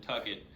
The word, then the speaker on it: Tucket: Junior Sun and then Tucket, like bucket but with a T.